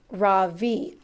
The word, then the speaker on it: Ravi: his mind chapter 23 ravi how do you like einstein so far ravi asks dylan actually it's pronounced raw v i say today has